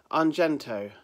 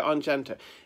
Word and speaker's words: Argento: It's Dario I can never pronounce his surname. Argento. Dario Argento.